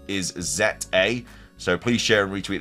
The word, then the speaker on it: Z-A: this fact so apparently in Japanese it's called zet a it's not called like Za or Za a or anything it's z